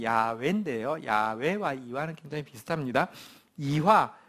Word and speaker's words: 야훼: 저자는 이와라는 분인데 이와는 우리 성경의 하나님 이름의 정확한 발음은 야훼인데요. 야훼와 이와는 굉장히 비슷합니다.